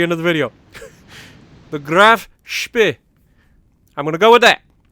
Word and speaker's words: Graf Spee: hopefully that appeases everybody it's not a okay it's not spay and apparently it's not completely speed even though that's closer to the real pronunciation then spay is which apparently a lot of English people's thing to say so with that out